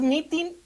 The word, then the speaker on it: mitin: gusta escuchar las propuestas pues mitin así como se escribe es m i t i n Pues la verdad es